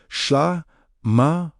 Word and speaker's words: SHLAMA: This is the beauty of SHLAMA, pronounced SHLAMA, wholeness, completeness, harmony with God.